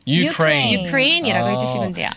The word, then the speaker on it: Ukraine: 네, 우가 아니라요. 우유 할 때 유 생각하시면 돼요. 너, 유. 그래서 Ukraine. Ukraine.